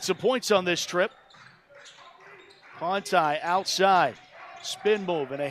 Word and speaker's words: Conti: And by the way, it's spelled C-O-N-T-I. You'd think it's Conti. My Italian self would think that, but Conti for both of them.